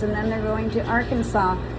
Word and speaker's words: Arkansas: then they're going to Arkansas. She called it Arkan- Arkansas and I told her how to say it properly and and so she was happy about that.